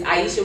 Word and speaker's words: Iesheia: Spell it for me. I know, because it's hard. My name is not, it's Iesheia. It's Iesheia.